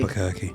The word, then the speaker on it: Albuquerque: How do you say Albuquerque? Albuquerque.